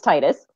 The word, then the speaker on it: Titus: No, it's Titus.